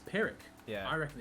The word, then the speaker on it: Pyrrhic: do you pronounce it i said ferric but it's actually pyrrhic is it i think it's pyrrhic yeah i reckon it's